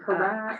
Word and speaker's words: HRAC: Is it Harac. Harac? What is the correct? And then what does it stand correct for? pronunciation is as a crow would say, Harak.